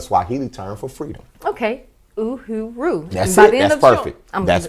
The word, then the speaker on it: Uhuru: And Uhuru is it's pronounced Uhuru, and it's a Swahili term for freedom. Okay, Uhuru.